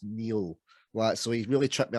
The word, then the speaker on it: Niall: But, and it's spelled Niall, but pronounced Neil.